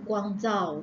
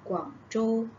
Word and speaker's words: Guangzhou: Orang Malaysia selalu sebut Guangzhou. Guangzhou kan sebenarnya ejaan dia, sebutan dia adalah Guangzhou. Guangzhou.